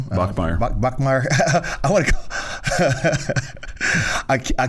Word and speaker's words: Bachmeier: Bachmeier. Bachmeier. I want to I keep want to call him Brockermeyer.